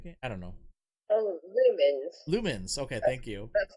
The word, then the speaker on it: Lumines: And then I picked up, and I'm probably gonna mispronounce this, Lumines? How do you pronounce that game? I don't know. Oh, Lumens. Okay, thank you. That's how I pronounce it.